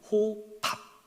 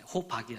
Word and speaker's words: 호밥: 호밥. 네, 호박이 아니라 호밥.